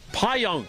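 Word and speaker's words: Pajak: You were working on the pronunciation? From the PWBA, the women's tour, Daria Payonk. Payonk.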